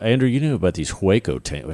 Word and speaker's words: Hueco: Andrew, you knew about these Hueco tanks. How do you say that? Hueco tanks in El Paso? Waco tanks, yeah.